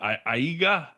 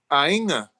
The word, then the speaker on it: aiga: Aiga. Ainga. Ainga. Okay. Yeah. Close. Close. Samoan has this really lovely and mysterious invisible N thing. So anytime you have a G in Samoan, pretend like there's an N right before it.